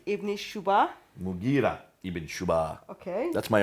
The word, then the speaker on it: Mughira: Sorry for the pronunciation. Qais. In Syria, Al-Muqarid ibn Shuba. Mughira ibn Shuba.